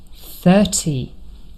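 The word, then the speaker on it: thirty: syllable not the first but 30 here the stress is on the first syllable and the day of the week Thursday.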